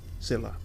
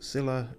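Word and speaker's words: Scylla: the sound destination reached Sila okay that's good to know that's how you pronounce it Cilla as in Silla black it is quite black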